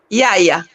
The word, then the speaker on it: Yaya: Prononcer bien en Kikongo, parce que c'est Kikongo. Yaya. Voilà. Yaya. La vraie langue.